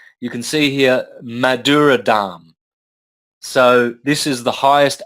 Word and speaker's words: Dham: Yeah, that's spelled D-H-A-M-A. You don't pronounce the last A, so you've got Dham.